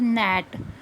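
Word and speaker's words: gnat: चाहे यहाँ पे जी एन रिटर्न है फिर भी हम इसको क्या पढ़ेंगे, नेट, मतलब जी साइलेंट रहेगा।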